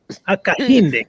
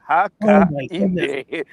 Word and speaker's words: Hakainde: Or perhaps before you even answer that, who is President Hakainde? I'm not sure if I'm pronouncing his name right, actually. Who is President Hakainde Hichilema? Hakainde. You're going to learn today. Hakainde.